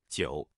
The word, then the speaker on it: 韭: In today's video, we'll teach you the Chinese character for leek or chives, pronunciation. 九.